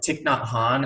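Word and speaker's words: Thích Nhất Hạnh: Vietnamese names but with tick not Han as we may know notice the H is silent after the T so both of these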